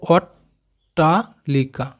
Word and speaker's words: অট্টালিকা: কেটে কেটে যদি আমরা উচ্চারণ করি, এখানে টয়ে টয়ে মানে কি দুটো ট আছে, তাহলে দেখো আমরা কেটে কেটে উচ্চারণ করবো অট্টালিকা, তাহলে দুটো টয়ে আমাদের উচ্চারণ হলো অট্টালিকা।